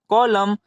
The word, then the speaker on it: column: तो यहाँ भी देख सकते हैं एम के बाद क्या है, एन है, तो एन साइलेंट रहेगा, तो इसे हम क्या पढ़ेंगे, कॉलम।